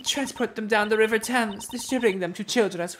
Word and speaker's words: Thames: Learning it's pronounced Thames fucked me up.